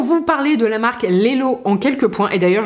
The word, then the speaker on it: LELO: de me rendre compte moi je dis Lelo et j'ai toujours entendu ça autour de moi dans la bouche de d'autres personnes. Mais si ça se trouve ça se prononce lilo. Et dans ce cas-là, je suis vraiment la reine des imbéciles dans le pays des navés. Bon, ça se dit pas du tout comme ça, mais vous avez compris l'idée.